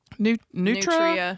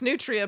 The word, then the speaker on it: nutria: Nutra. Nutria. Yeah. Nutria. It's Nutria, but you say it Nutra.